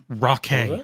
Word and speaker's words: Rockay: Rockay. It's just like ROCKAY.